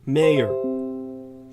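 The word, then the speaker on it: Meier: Mayer, a Jew, wrote in his own book titled Hitler's Rise to Power. Mayer is spelled M-E-I-E-R.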